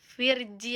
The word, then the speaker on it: Virgi: Tulisannya mah Virgi, tapi dibacanya Virgi, bukan Virgi.